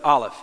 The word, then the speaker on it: Aleph: the Hebrew letter there, Aleph, which is like our letter A. Technically, it's a silent letter in Hebrew, but that's the first letter, Aleph.